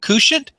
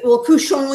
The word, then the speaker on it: couchant: Couch it. Like you're laying on a couch. Well, couchon is like the French pronunciation, so that's what I tend to do. But couchant is fine.